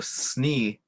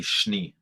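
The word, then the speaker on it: šni: little bug while blushka so when you see the S with the wabalushka on there instead of Snee it's going to be schnee schnee so it's almost like an sh sound EE and that's important because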